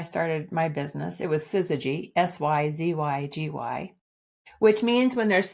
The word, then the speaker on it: syzygy: They could never spell it. They would say, is it synergy? No, it's syzygy.